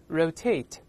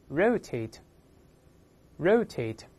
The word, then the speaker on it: rotate: 两个发音，那么英式发音重音在后面，美音呢重音多在前面，都可以。